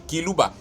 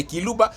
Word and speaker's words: Kiluba: Nous défendons le Buluba authentique dans lequel sont compris et les Baluba natifs du Kasaï, locuteurs du Kiluba, qu'ils prononcent Chiluba, mais sans que ce